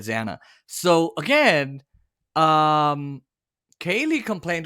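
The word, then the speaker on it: Xana: and Jennifer nodal uh they say zaina but she said Zana so again um Kaylee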